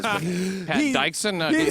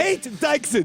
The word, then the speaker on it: Pat Dixon: That's actually the original pronunciation. I changed it for showbiz. But Pat Dixon. So he messes everybody up. He's like, Pate Dixon.